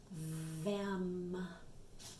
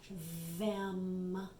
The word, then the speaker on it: them: friend th right but in this word th is not saying this stick out your tongue sound it's not saying like we hear in Thursday it's saying that sound that makes our teeth vibrate a little bit them them very good